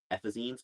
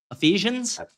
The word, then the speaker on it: Ephesians: Uh, this is this is uh 317 Ephazines. And then this one this this one's not a Bible quote. This is uh Ephesians.